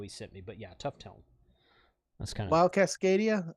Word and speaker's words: Tufteln: in the video he sent me but yeah tough tone that's kind of wild Cascadia uh g90 plus